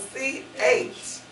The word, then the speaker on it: Chloe: It's spelled C-H-L-O-E. But how does it sound when you say it? K. Chloe.